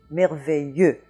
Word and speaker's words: merveilleux: But the whole last part of that word, I-L-L-E-U-X, comes down to only one little sound, y.